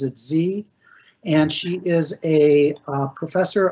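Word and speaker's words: Sze: create it um her name again is Sarah Z she pronounces it Z and she is a professor of art at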